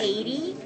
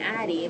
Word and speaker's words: Addie: But then I realized they were pronouncing Eva as Ava, and then Addie as 80. Oh, Jesus. And so it's Ava and 80, and they're super similar. So I was no, it's Eva and Addie.